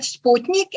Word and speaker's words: Sputnik: So in Croatian, it should be read Sputnik, and here is the explanation for this approach.